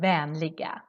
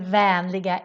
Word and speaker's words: vänliga: Very important to not forget the 2 dots on the A in the word vänliga, because otherwise you're going to say with common regards. Vanliga means common and vänliga is friendly.